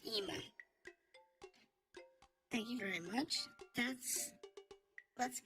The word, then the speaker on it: IMA: This is pronounced Ema.